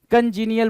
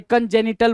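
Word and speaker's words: congenital: ना इसको क्या बोलेंगे कंजीनियल बोलते हैं क्या जो जन्म जन्मजात हो कंजिनियल सॉरी कंजेनिटल बोलते हैं कंजनियल नहीं वो स्पेलिंग दूसरी होती है कंजेनिटल बोलते हैं भाई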